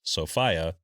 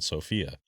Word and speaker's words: Sophia: of the United Kingdom, hence the British pronunciation of Sopia rather than Sophia.